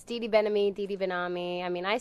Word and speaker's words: Benami: Am I pronouncing it correctly? Yeah, I mean, it's Didi Benami, Didi Benami. I mean, I say Benami, but apparently it's Benami.